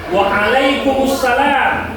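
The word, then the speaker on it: وعليكم السلام: Dia bacanya a a dia lebih ke belakang sedikit ya. Waalaikumussalam.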